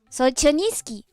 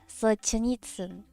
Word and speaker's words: Solzhenitsyn: From Solzhenitsky.